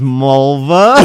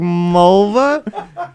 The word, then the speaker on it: Mulva: Remember when he goes Mulva? She's like it rhymes with the body part. He's like Mulva.